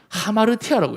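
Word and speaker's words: ἁμαρτία: 여기 붙으면 하가 돼요 요거는 p가 아니고 로라고 합니다 그래서 R 발음이나요 하마를 타우 요건 심플해서 안 붙여도 돼요 자 여기에 성경 원문에 이렇게 적혀 있어요 제가 하마르티아라고 있습니다 하마루티아 여기 원래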